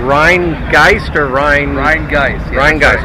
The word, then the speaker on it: Rhinegeist: geister Rion Rion guys Rhine guys that's a correct pronunciation all right I mean